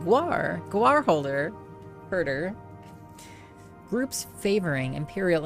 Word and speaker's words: guar: You're still hearing that as guar. Well, what is it? Guar? Am I not? Is it not correct? That's the right pronunciation. Guar.